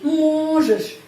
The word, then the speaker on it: можешь: Terus ты можешь. Di sini penekanannya pada huruf O, ya, di sini pada huruf U. O, di sini pada huruf O. Можешь. Karena itu huruf O, pengucapannya O tetap можешь.